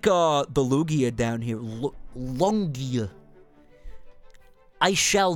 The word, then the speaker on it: Lugia: Lugia. Even though that's how you pronounce it.